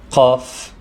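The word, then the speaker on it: ق: Qaf is pronounced like a K, but from beginning of the throat.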